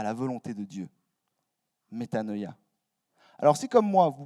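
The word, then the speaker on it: μετάνοια: Et je vous donne aussi le mot en grec qui se prononce métanoïa.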